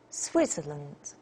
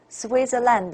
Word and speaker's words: Switzerland: the Japan and this one Switzerland Switzerland not Switzerland oh look at this